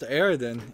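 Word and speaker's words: Eridian: were to pontificate I would infer that the aridan writings show a class-based society that was quite capable of both leadership and of armed conflict so it's pronounced aridan interesting there we go a named character Rakin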